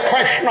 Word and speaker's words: Krishna: Quando você pronuncia o ri, a língua não vai lá para trás?